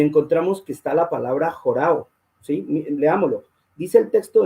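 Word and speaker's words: ὁράω: Los que les gusta buscar pueden mirar ese número y dice jorao. Se escribe O-R-A-W, que es una O, jorao.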